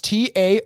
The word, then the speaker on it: Taoism: It should be with a D if it's going to be pronounced that way.